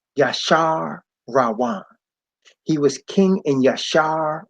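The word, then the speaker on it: Jeshurun: me see it right this says gesture 1 but it's pronounced ya Shah rowana he was king in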